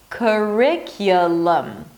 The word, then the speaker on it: curriculum: by engaging the back of your tongue, a schwa sound, and an M. Lum, lum. Curriculum. A lot of schwas in this word.